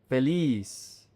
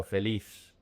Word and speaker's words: feliz: Abierto, feliz. The Z is an S in Latin America. In Spain, it's pronounced like a TH, so feliz.